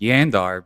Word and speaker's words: Jandar: people jandar is pronounced yandar because Old Norse Jays are pronounced like a y right and then Craig was like no it's jandar I'm like bruh like